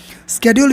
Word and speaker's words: schedule: Schedule, this is called schedule and schedule both. Schedule we call in American accent, schedule we call in British.